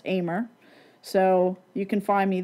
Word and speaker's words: Ahmer: Of course, my last name is Ahmer, but it's spelled like Ahmer, but it is pronounced Ahmer.